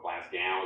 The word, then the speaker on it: Glasgow: She did her undergrad and PhD at the University of Glasgow in Scotland, or Glasgow, as I guess people pronounce it around here.